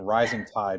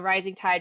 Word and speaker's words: Rizing Tide: So, in Rising Tide, it's it's spelled r i z i n g.